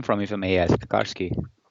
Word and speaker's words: Garski: and the guest we bring in is Michael Garski.